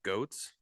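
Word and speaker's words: Goetz: First off, is that how you pronounce her name, Beth Goats? It is But Beth guess what?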